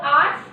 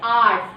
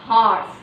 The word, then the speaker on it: hours: Have the children making noise for 4 hours.